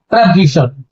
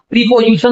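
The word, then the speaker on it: preposition: तो अब यहाँ पर अगला हमारा आ जाता है प्रेपोजिशन, जिसको मैं फिर से बता देता हूँ, इसका प्रोनाउंसिएशन प्रीपोजिशन न करके प्रेपोजिशन करेंगे।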